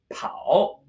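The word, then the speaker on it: 跑: it is still a foot this character is pronounced pow and it means to run pow pow pow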